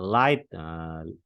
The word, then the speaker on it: light: Kayak light, light itu ya GH tidak dibaca.